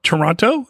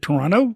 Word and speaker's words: Toronto: you mispronounced it though Toronto yeah you don't pronounce the second T what is it Toronto Toronto ah yeah Toronto anyway I would lie